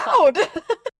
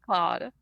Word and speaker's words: Claude: Cla Cloud. Cloud? Claude. Mr. iCloud himself. Why do I have such trouble pronouncing this name? Claude. Is that right? Yes, Claude.